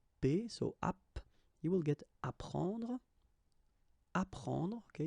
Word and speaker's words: apprendre: The first one, ap, so ap, you will get apprendre, apprendre, okay, you don't pronounce the double p, apprendre, so here is what it means.